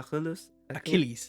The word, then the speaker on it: Achilles: only Aus for um what how is it pronounced in English which one a achilles Achilles ailles so the C is a hard